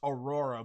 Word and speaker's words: Araura: So it's spelled A-R-A-U-R-A. It's pronounced Aurora, but if you look at it, you could honestly pronounce it as like Araura instead of saying like Ara, but it's like Araura.